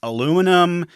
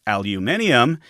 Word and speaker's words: aluminium: to call it first he liked a Lumia man aluminum the Americans picked up on that spelling and pronunciation but the British scientists argued it should be aluminium and they stuck to